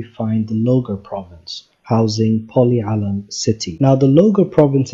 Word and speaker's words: Pol-e Alam: We will be going through the countries alphabetically, starting with the small city we chose to highlight in this country is pronounced Pol-e Alam and is spelled many different ways in English.